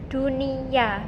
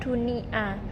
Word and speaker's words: dunia: Untuk akhiran kata A ini ada tambahan konsonan Y sehingga dibacanya dunia bukan dunia.